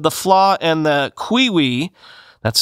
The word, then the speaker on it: Qiui: Quote, UK-based security firm Pentest Partners said the flaw in the Qiwi, that's spelled Q-I-U-I, cellmate internet-connected Chastity lock, billed as